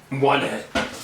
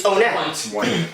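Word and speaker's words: Onett: No, it's Onet. I actually looked this up. Fuck you. In the original Japanese version of the game, because of how Japanese works, they use syllables rather than words, and the syllable used for Onet is just own, not one. So it's Onet.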